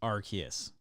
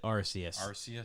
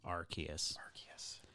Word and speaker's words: Arceus: is pokemon legends of arceus that's right it's pronounced arceus my whole life i called it arceus and i still don't think i'm gonna call it arceus but i found out it's actually pronounced arceus because i was all like yo about to